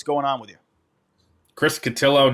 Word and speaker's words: Cotillo: Chris Catillo, not CIO as much as the section 10 people want you to think. Otherwise, I keep hearing both. I I it's just it's not both. It rhymes with pillow.